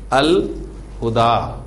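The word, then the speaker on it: الهدى: اس کے بعد ہاں, قرآن مجید کا ایک اور بڑا خوبصورت نام ہے الہدا, الہدا. فیصلہ ہو گیا, ہاں آپ کا قمری حرف ہے.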